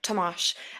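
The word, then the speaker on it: Tomasz: thas toas but yeah Thomas is also fine is toas Polish yes yes it is Polish name yeah to tomash okay okay so I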